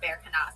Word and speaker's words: Berkana: Okay, so the rune Berkana, oh, it's pronounced Berkana, sorry.